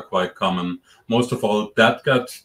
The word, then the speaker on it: DADGAD: Most of all, dadgad tuning, that's just the notes of the strings, D-A-D, G-A-D, and that's the tuning I play most of the time, at least.